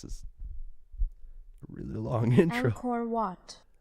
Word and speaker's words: Angkor Wat: How to pronounce Angkor Wat? Let's learn. Learning sesh. This is a really long intro. Angkor Wat. Angkor Wat.